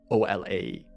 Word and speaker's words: Olaus: That is spelled O-L-A-U-S, Olaus.